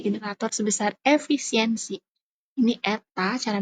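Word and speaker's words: η: listrik dengan efisiensi generator seb besar efisiensi ini Eta cara bacanya maka P ama tinggal ditambahin efisiensinya berapa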